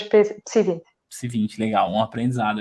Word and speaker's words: PSI 20: Você falou que você pronunciou ele como PSI 20. É PSI 20. Eu quando ia pronunciar, eu pronunciava como PSI 20, mas na prática... Não, PSI 20. Nós dizemos PSI 20.